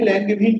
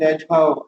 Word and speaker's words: Langevin: এটাকে ল্যাঙ্গেভিন ফাংশন বলা হয়, বা অনেক সময় ল্যাজভাও বলে আর কি, যে যেভাবে উচ্চারণ করে।